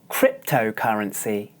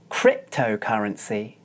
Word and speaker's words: cryptocurrency: ah listen again Oh the sound earth also occurs in the next syllable of the word listen as I demonstrate cryptocurrency cryptocurrency this is a weak syllable so you don't need to open your mouth very much watch again cryptocurrency cryptocurrency